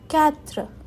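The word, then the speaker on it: quatre: नहीं देगा थुआ क्योंकि आर पूरा प्रॉपर्ली प्रोनाउंस नहीं होता है इन फ्रेंच लैंग्वेज ठीक है फोर कैत्र कैत्र त्र फाइव सेंक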